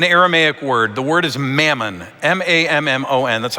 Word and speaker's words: mammon: he's using an aramaic word the word is mammon m-a-m-m-o-n that's how we spell it mammon and a lot has been said